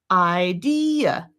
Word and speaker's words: idea: Idea, idea. We're saying there's 3 syllables here. And we're saying, hey, if you wanted to, you could then take those two, E and and make them short enough so they actually occupy one space and they're one syllable.